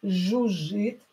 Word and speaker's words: жужжит: When you have double consonants, double hissing consonant, that means that you have to pronounce it deeper, longer. Жужжит.